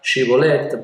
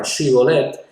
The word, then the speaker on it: shibboleth: a los ganadores, y si no podían pronunciar esta palabra, shibboleth, porque la pronunciaban shibboleth, entonces les mataban.